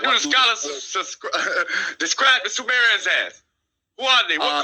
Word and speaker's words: Sumerians: So you're pronouncing the word incorrectly. Sumerians.